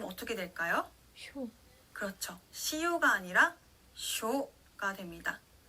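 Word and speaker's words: しょ: 발음 어떻게 될까요? 쇼.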